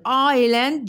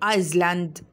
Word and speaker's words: island: told him about his trip to the island island jazeera is silent you can't say iceland to the island of the sun where he